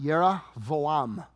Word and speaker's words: Jeroboam: him for a minute jeroboam son of nebat now God came to jeroboam It's pronounced yeram in uh in Hebrew but he comes to